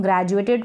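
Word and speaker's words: graduate: पढ़ रहे हैं ग्रेजुएट डी यू को आप ज्वे करके पढ़ेंगे ज्वे इस तरीके से जू और ए ज्वे ग्रेजुएट यानी कि स्नातक ग्रेजुएट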